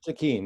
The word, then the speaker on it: Stikine: provincial election from uh speaking how do you pronounce the name zakeen that's correct it's uh northern bc goes up